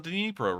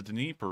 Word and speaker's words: Dnipro: I've always heard it being called the Dnieper River, and I've also seen it spelled like that before. I think that actually may be one of those Russian spelling, Russian spelled versions of the river, and I've just kind of been using that.